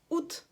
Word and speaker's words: août: Ут. Просто ут. А как оно пишется?